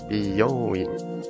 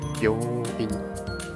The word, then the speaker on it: びよういん: 听起来就是三个字。Biyoin 正是美容院的 biyoin，因